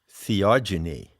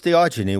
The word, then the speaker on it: theogeny: ever heard the word theogeny i coined that term when i wrote the seekers handbook it's spelled h e o g e n y genie as in genesis generation epigenesis genetics so what it means is